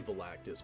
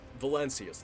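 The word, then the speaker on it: Valancius: I keep wanting to say Volactis, but I know it's val I'm just gonna I'm just gonna say Volactis until I hear the correct pronunciation again. But Valencius, that's it.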